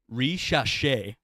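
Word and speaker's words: Risacher: re reer rer rer you're not too far off it's Zachary reash because they chop off stuff at the end yeah so that's how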